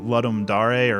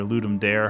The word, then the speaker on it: Ludum Dare: but this weekend is the Ludum Dare or Ludum Dare, however you want to pronounce it, for video game development.